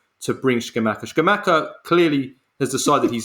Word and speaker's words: Scamacca: I just want to, first of all, to everyone who listens, his name is Scamacca. Yeah. You're not, Carlo's just using his Neapolitan dialect to pronounce his name in the most Napoli way ever, which I absolutely love.